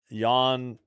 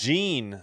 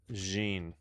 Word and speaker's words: Jean: Yan waiting for Oh, it's Jean. Sorry, it's Jean. Full count. I'm glad I listened. Yan. Pronounced Jeene.